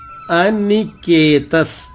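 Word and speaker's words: అనికేతః: మూడవ చరణము అనికేతస్తిస్థిరమతిర్ అనికేత అనికేతస్ త తర్వాత విసర్గ ఉంది విసర్గ ఉచ్చారణ బ్రాకెట్ లో ఉన్న అక్షరమే చెప్పాలి అది రూల్ అనికేతస్ స్థిరమతిర్ ఇక్కడ బ్రాకెట్ లో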